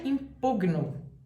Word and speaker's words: impugno: prática do direito então se você vai impugnar impugnar o presente do indicativo é eu impugno Olha se você apresentar essa